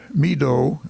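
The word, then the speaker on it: Meedoe: Meadow, it's spelled M-E-E-D-O-E, Meadow Canton has purchased a strip of land from Mr.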